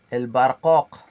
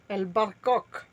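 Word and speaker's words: برقوق: J'ai écrit en rouge le Q ou le 9 qui se prononce le kakakakak comme la poule, mais juste on n'avait pas la place en bas pour écrire l'explication. Je vous expliquais le K comme la poule. Le barqoq. Le barqoq. Le barqoq. El barcoq. Pas coq. Le coq, tu fais le son du coq. Tu dis pas le coq.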